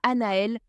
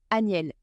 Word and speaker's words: Aniel: Pas Aniel, pas Anaël, un autre ange différent. Aniel avec un A, un N, un I, un E, un L. Écris-le, prononce-le clairement. La précision en spiritualité, c'est tout.